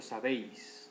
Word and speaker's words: sabéis: Por ejemplo, sabéis, ¿no? Sabéis tiene acento en la E, que es la sílaba abierta, sabéis, ¿no?